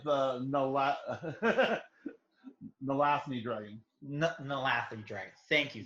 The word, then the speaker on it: Nalathni: How do you pronounce that? The Nathal. Nalathan Dragon? Yeah, the Nalathan Dragon and the original Mana Crypt book printing incidents. You lived through that. It's the Nalathni dragon.